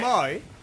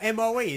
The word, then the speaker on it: Moe: It's spelled M-O-E. Is that not Mo? I'm pretty sure that's Mo. It's Mo.